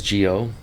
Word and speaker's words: Gio: And then I got on stage and I said, "Hey, my name is Gio. It rhymes with Neo.